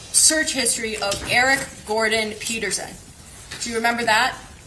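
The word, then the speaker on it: Pederson: So, it's Peterson Peterson.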